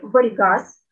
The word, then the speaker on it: врьгаз: Также есть интересный редуцированный гласный звук "ъ" Например, в слове "врьгаз" (волк) есть этот звук. В письме он никак не обозначается. В слове между двумя согласными мы никакую букву не пишем, а в транскрипции обозначаем "ъ". Этот звук может быть и в начале слова.